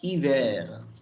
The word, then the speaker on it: hiver: Je viendrai te voir dash hiver. I will come to see you. I'll come to see you this winter. Hiver. The word hiver, this H will be silent and only this I-V-E-R will be pronounced.